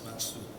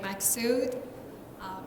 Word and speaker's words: Maksud: Ms. Matsu, which I completely mispronounced.